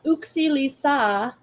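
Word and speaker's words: yksi lisää: And Uxi Lisa is how you say it in Finnish.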